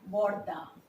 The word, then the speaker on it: বড়দি: বড় দিদি বলি কি না? দ্রুত উচ্চারণের জন্য আমরা বলি বড়দি।